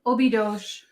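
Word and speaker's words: Óbidos: so so I think Obi Dosh is a or it's spelled ob-i-d-o-s and I think it's a sound at the end so it's okay you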